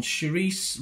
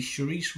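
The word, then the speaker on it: Saoirse: stars uh oh I never know how to pronounce this one Sharice Ronin is it Sharice s a o i r s e Sharice Ronin Paul mcal and Aaron Pierre yeah it's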